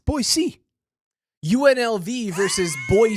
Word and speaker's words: Boise: but I know you're capable of saying it correctly boy C boy c yeah he can do